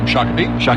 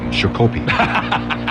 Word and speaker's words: Shakopee: Shakopee. Mm-hmm. It's Shakopee. It's a Native American name, Sure. and it's very important that you get it right. It is. He goes, Shakopee, the phones ring.